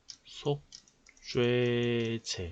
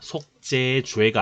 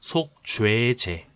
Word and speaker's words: 속죄제: 세 번째, 속죄제. 이거 발음 잘해야 됩니다. 속죄죄가 아니라 속죄제.